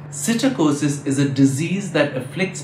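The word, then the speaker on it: psittacosis: sitter causes of parrots that's with a pea that unlike the parrots is silent cytokosis is a disease that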